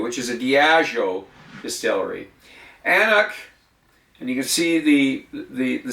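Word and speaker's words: An Cnoc: Annoch, and you can see the spelling of it there. The C is silent.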